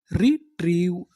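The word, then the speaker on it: retrieve: आपको पता है कि इ का उच्चारण हमें करना नहीं तो हमारी पूरी मीनिंग क्या बनी रिट्रीव रिट्रीव रिट्रीव का मतलब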